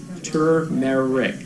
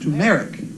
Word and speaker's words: turmeric: Janibo from Halifax, Jane Bow says it's turmeric with an R pronounced turmeric. Turmeric. Oh, so it's not turmeric. It's turmeric. I don't know where the accent goes.